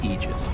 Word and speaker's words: aegis: now that is okay so the correct pronunciation technically speaking of ages is aegis this it's a literal